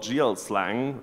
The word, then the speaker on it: GLSL: code is written in a language called GL slang or if you would spell it out it's GLSL so the GL shader